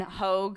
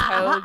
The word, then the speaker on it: Hogue: And then Hogue. You remember Hoagie? Hogue. Yeah, Hogue. You mean hog? Yeah. His is pronounced Hogue.